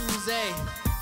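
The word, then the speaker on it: Oozie: Double O-Z-I-E, it's not Uzi, it's Uze. Say it like you're French.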